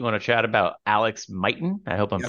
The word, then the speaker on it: Mighten: Nate, you want to chat about Alex Mighten? I hope I'm Yes, pronouncing that correctly.